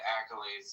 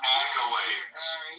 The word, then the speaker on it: accolades: But again, he doesn't have half of the accolades that I have. And it's clearly true. First, it's pronounced accolades.